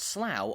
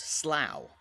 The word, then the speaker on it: Slough: mound one of the best ways to understand slough's Origins is through the town's name Which packs a lot of history into just one syllable despite its spelling the name is pronounced Slough not Slough or slow and there are a